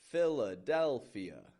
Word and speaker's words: Philadelphia: What makes this one tough is that it has 5 syllables. A syllable, as I've mentioned in the past, is a unit of sound. It's that combination of a consonant and a vowel. Philadelphia. Philadelphia. Philadelphia. We spell that P-H-I-L-A-D-E-L-P-H-I-A. Philadelphia. It's got 2 PHs in it. And remember, PH makes a F sound in spoken English.